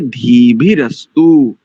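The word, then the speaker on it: धीभिरस्तु: रस्तु ऐसा नहीं है इसका उच्चारण कैसे करेंगे धी भी रस्तु बस और दूसरा दूसरी पंक्ति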